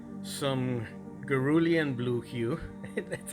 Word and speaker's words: cerulean: yellow pale hue, believe it or not, some cerulean blue hue. That's how it's pronounced.